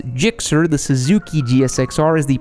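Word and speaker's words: GSX-R: jets and floats gsxr pronounced and often spelled phonetically as gixxer the suzuki gsxr is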